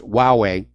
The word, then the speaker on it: Huawei: corrected my pronunciation about that cellphone manufacturer it's pronounced Huawei and apparently the CFO Ming Wang Zhao has